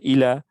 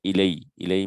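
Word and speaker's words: إلى: Okay, sometimes this is pronounced as ilay when it is connected with a pronoun, just like ala, alay, and ilay. And we say inna lillahi wa inna ilayhi rajuin, right?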